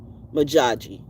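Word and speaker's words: Modjadji: Majadi if the D is silent. Maji if the D is silent which it usually is. So it's Maji.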